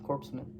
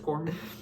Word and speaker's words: corpsman: Corpseman. Corman. I see. Yep. Corpseman. I don't think that's a rape, but we can check on the pronunciation later. Pretty sure it's Corman.